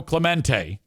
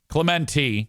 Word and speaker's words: Clemente: ] awesome rant about what happened to Roberto Clemente. Clemente Clemente.